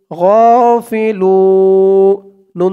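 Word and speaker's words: غافلون: এই কেরাতটি এখানে শেষ, তো এখানে শেষ করার কারণে পেশের পর ওয়াও সাকিন, এখানে 1 আলিফ টানটা 3 আলিফ টান করতে হবে। লু বলে 3 আলিফ টান দিয়ে এই নুনকে ধরতে হবে, নুনের উপরে জবরটা সাকিন হয়ে যাবে, 3 আলিফ টান মধ্যে আরজি।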